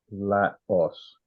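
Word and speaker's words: λαός: England all of it how do you pronounce it um Laos it's a short a ah let us there's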